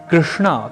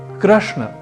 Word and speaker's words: कृष्ण: का अनुकरण करते हुए योग को योगा की तरह कृष्ण को कृष्णा यह उच्चारण नहीं करना क्योंकि कृष्ण तो पुल्लिंग शब्द है जबकि कृष्णा स्त्रीलिंग अर्थात